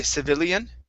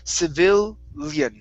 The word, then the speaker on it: civilian: Okay, so in with this word, we're not going to pronounce every vowel sound. So we don't want to say civilian. Mm-hmm. Okay, so it's civilian.